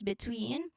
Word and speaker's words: between: Y is between um there's a short E sound here in B the first syllable. Uh then it it is followed by stress on tween. So the stress is on the second syllable between which has a long e sound as in c.